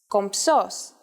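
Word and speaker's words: κομψός: in Greek this is compsos and even though writing it isn't that hard saying it is a little tricky since you have to combine the um and the S sounds for the moment though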